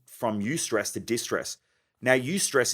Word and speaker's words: eustress: eustress to distress now use stress is good stress it's spelled e you and then the word stress so you stress is